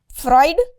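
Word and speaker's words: Freud: इस चीज को बहुत सारे लोग प्रोनाउंसिएशन में गलती करते हैं। तो हम लोग देखेंगे यह इसको ऐसा लिखिए। लेकिन ये फ्राइड हो जाएगा। फ्राइड वी आर not talking about food here.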